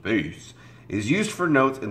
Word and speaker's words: bass: The bass clef, pronounced bass, is used for notes in the lower pitch ranges.